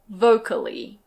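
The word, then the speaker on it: vocally: For example, in this word we pronounce all the syllables. It's "vo-ca-lly".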